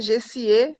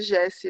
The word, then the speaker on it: Jessiê: com a pronúncia errada, mas é Gessie, é como se fosse um nome francês, é Gessie, meu nome. Mas é normal, todo mundo acaba me chamando de Jessie, né?